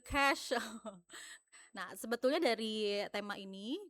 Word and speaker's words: Cache: Kita cari tahu gimana sih cara bacanya clear cace gitu ya. Clear cash.